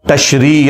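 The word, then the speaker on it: Tishrei: उनका जो है वो तशरी या तशरे दोनों प्रोनाउंसिएशन बोली जाती है उस महीने के लिए।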